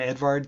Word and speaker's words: Edward: person right here um Edward Edward titchner or you could also call him Edvard titchner um but he developed